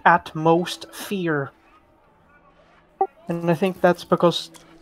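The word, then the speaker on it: AtmosFear: But one of the rides is called Atmosphere, but it's spelled atmosphere, but people pronounce it at most fear.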